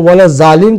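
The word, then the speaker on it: وَلَا الضَّالِّينَ: لہٰذا ہم بھی اگر صحیح تلفظ کرنا چاہیں تو وَلَضَّالِّينَ ہے, سملر ہے, بہت کلوز ہے دال سے, مگر وہ دال نہیں ہے بلکہ وہ ضاد ہے.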